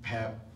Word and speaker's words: Peep: like, look, I've known Pep, and that's how you pronounce it, his name is not Peep, it's spelled Peep, but he doesn't like when you call him that, so it's Pep, all right?